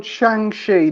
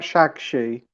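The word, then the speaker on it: Shang-Chi: way oh well yeah it's called shangshi not shakshi oh that's me pronunciation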